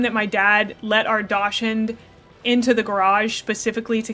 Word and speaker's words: dachshund: Um, I will never say dachshund. It's just not It's not correct. It's spelled dashed and I will always say dashed.